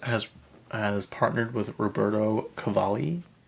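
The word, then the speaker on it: Cavalli: Um, Skiims has has partnered with Roberto Cavali. Someone call it call it Cavelli. I'm like, why why would you say it that way? Like, that's not even how you say it. It's Cavali.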